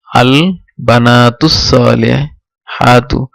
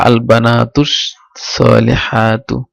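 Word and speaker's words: البناتُ الصالحاتُ: তো এখানে উচ্চারণ পুরাটা কিভাবে আমরা পড়বো, আল বানাতুস সালিহাতু, যেহেতু হামজাতুল ওয়াসিল এটা উচ্চারণ হবে না, আর যেহেতু হরফ শামসি তাই এটা লাম উচ্চারিত হবে না, তাহলে আল বানাতুস সালিহাতু।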